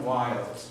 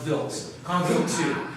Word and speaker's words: Wild: one here do not do not do not say comet wild the gentleman who discovered it his name was pronounced v-i-l-t it's a common mistake it's understandable but you know please it's comment bills um you know foreign